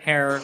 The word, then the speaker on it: Herer: by none other than jack harer rhymes with terror rhymes with tara for sure and he's